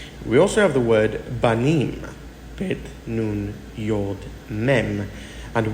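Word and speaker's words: בנים: We also have the word Banim, Bet, Nun, Yod, Mem, and we know it is pronounced Banim, which means sons.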